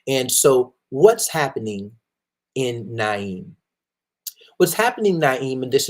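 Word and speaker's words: Nain: Naim or name um I I believe that is pronounced Naim because there's some other spellings of it that allude to that uh Naim and so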